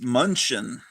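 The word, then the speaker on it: München: in Munich but I don't know why Munich is spelled this way in English but in German it's munin it's weird it has the two dots on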